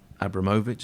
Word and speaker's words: Abramovich: the road but since Roman Abramovich as I say that's apparently how you're supposed to pronounce it since he bought Chelsea